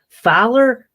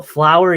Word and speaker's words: Fowler: Like they're not easy names, but Fowler, and I get how you can confuse it because it, you know, Flower, you just put an L in front of the the the the O, but like Flower, that just seems intentional to me.